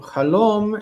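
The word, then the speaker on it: חֲלוֹם: And so halom is one of these words that has a reduced first syllable.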